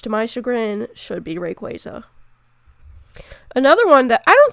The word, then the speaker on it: Rayquaza: that it was pronounced Rayquaza, but Rayquaza is actually pronounced Rayquaza because it comes from the words ray, as in ray of light, and quasar, which is a celestial body.